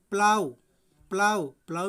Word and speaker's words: plough: जैसे आप अपना नेक्स्ट एग्जाम्पल देख रहे हैं, जिससे दिया गया PLOUGH, तो ये क्या हुआ, GH को तो हम पढ़ेंगे नहीं, तो ये हो गया आपका प्लाउ मीन्स हल।